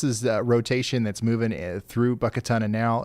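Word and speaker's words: Buckatunna: The pronunciation of Buckatana, especially in Mississippi, is often Buckatana, with emphasis on the second syllable.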